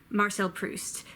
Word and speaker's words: Marcel Proust: Hans Anatole France Marcel priest MA say host Marcel Proust who of course wrote a la Hache -